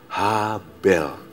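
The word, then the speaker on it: הבל: Kata sia-sia diambil dari bahasa Ibrani habel. Yuk. Apa? Ha bel. Ada cara bacanya. Jadi cara bacanya gini. Bel. Tarik napas, lepas bel. Ulang bel.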